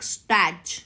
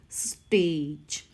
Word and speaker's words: stage: it's a not a so don't read this word like stat no it is stage stage now next we